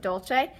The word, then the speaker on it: dolce: here we have dolce and Italian we pronounce it dolce if you speak Spanish you might see the same word and think Dulce and that just means